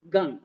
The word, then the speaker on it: Gang: Gang. Gang. Gang, you must pronounce with a gang at the roof of your palate.